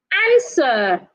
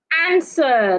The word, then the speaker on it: answer: castle castle not Castle answer answer the W is silent our the H is